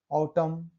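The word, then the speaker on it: autumn: देखते हैं rule number 2, किसी शब्द के अंतिम में एम के बाद एन आता है तो एन साइलेंट होता है।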